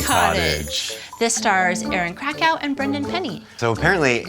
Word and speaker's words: Krakow: have the wedding Cottage this star is Aaron Krakow and Brendan penny so apparently it's Aaron craco that's the proper pronunciation I got that little tidbit from somebody